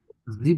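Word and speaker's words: sieb: হলে কি বলতে হবে আগে জিভেন বলা যাবে না এক্ষেত্রে খেয়াল রাখবে আকটেনজিও এখানে জিভেন বলা যাবে না এখানে কি বলতে হবে জিব বলতে হবে শুধুমাত্র এটা এটা খেয়াল করতে হবে জিব তারপর সেন্স এবার যদি 18 বলতে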